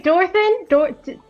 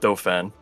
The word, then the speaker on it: Dauphin: I'm not Dauphin. I'm not the least bit surprised that his cousin would mispronounce his name either.